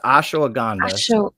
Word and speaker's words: ashwagandha: Yeah, it's ashwagandha.